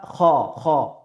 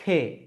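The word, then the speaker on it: خ: তারপরের বর্ণমালা খ এই খ উচ্চারণের ক্ষেত্রে আমাদেরকে এক আলিফ বরাবর টেনে পড়তে হবে। খ আমরা অনেকেই বলি খে না খে হবে না সঠিক যদি আমি উচ্চারণ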